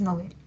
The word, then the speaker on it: novel: A ver, novel es aguda, aunque yo la pronuncie grave, pero debo atender a lo que dice el DPD. El DPD me dice que se recomienda su uso agudo porque proviene del francés, que es novel.